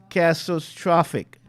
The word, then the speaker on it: catastrophic: person told me to break it up into 3 syllables. That word was cast. See, I'm still having trouble with it. Cast. Maybe Miss King can help me with it if I get it wrong. Catastrophic. I keep getting it 4 syllables, but I was told it's 3.